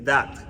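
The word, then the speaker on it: דת: La palabra religión en hebreo se dice dat. Se pronuncia D-A-T, dat, como si fuera dato, pero sin la O.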